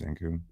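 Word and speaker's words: Zankou: Do you say Zanku chicken? It's Zanku.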